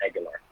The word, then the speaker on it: Aguilar: It was not Homer Aguilar. It's Homer Aguilar.